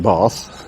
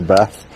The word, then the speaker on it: Bath: Now Bath I'm pronouncing it Bath as opposed to Bath. Could be Bath, couldn't it if you're from up north like me.